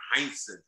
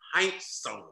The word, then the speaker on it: Heinsohn: his name he said that's not my name tommy heinsohn it's tommy heinz and he said he said the only person would say that the right way was the guy in